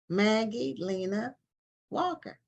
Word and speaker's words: Maggie Lena Walker: And it's about Maggie Lena Walker.